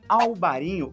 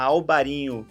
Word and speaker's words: Albariño: do pão e a albarin ou alvarinho porque é a mesma uva tá pessoal a albarin é a pronúncia dela em espanhol alvarinho em português e como ela é